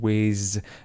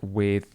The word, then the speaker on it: with: A few things that I just want to pick out again, his pronunciation of the sound. He said whiz and not with.